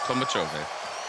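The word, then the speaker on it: Tolmachevy: That's how you say it, Tolmachove.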